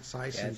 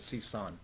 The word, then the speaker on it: Sison: Sison, you see, I used to call him Sison. Yeah, it's actually not completely Cal's fault. I actually went back to the original pronunciation of my last name, which is Sison.